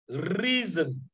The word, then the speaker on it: reason: Reason, la raison. Not season, not reason. Reason. So you don't pronounce S-O-N, you pronounce it zun, zun, zun.